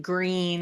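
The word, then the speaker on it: Gruene: So we have all these towns like Green that's spelled like G R U ne or Fredericksburg or New Bron Falls that are very German influenced.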